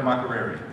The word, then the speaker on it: Makerere: You pronounce it here Makerere or Makerere?